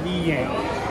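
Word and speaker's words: Vigliena: Tu devi dire Piazza Villena, si dice, si pronuncia Villena. Il primo è più facile.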